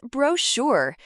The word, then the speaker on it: brochure: Question 10 answer is brochure. Note, ch sounds sh, spelling b r o c h u r.